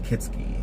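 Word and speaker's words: Kietzke: K-I-E-T-Z-K-A, pronounced Kitski.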